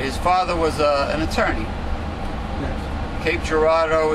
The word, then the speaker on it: Cape Girardeau: father was an attorney Cape Girardeau is not spelled it's spelled like a like a French word Gerardo like it was a d-e-a-u yes I'm like yes